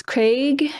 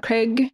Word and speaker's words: Craig: I've been told I'm pronouncing that wrong as well. It's Craig, not Craig.